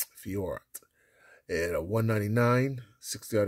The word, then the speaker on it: Fiorot: We got a Manon Fiorot, flyweight, the red prism here of UFC. I said it wrong, didn't I? It's Fiorot. That's how you say her name. Fiorot.